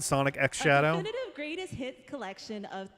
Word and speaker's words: Sonic X Shadow: up next we have Sonic Shadow generations all right so that is the official way to pronounce it Sonic X Shadow definitive greatest hit collection